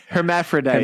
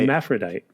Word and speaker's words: hermaphrodite: you say that word hermaphrodite hermaphrodite I'm spelling Herrod correct literally it's it's Herm from Hermes on the front of Aphrodite but you you could say hermaphrodite that's the name of